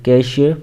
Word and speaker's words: cache: ई spelling देखें तो कैच नहीं पढ़ना बल्कि कैशियर पढ़ना है इसको इसकी जो प्रोनाउंस है इसको हम कैश कहते हैं और यह मदर बोर्ड